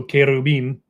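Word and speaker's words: כרובים: So, [cough and clears throat] when we look at this this word in Hebrew, it's kerub. Okay? So Kerubim would be the actual way that you pronounce these, you know, the cherubam as people think of them.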